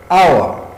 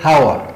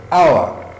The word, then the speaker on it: hour: So examples of words which have silent H, we have hour. You don't say hour, no. H is silent, you don't pronounce it. So hour.